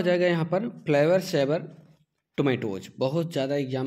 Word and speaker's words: Flavr Savr: प्रोना ए डी फ्लेवर सेवर और इसलिए इसको प्रोनाउंस डी फ्लेवर सेवर के नाम से भी जाना जाता है ए